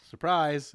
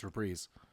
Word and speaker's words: reprise: But you they reprise their role. Don't surprise. It's rereeze. Surprise.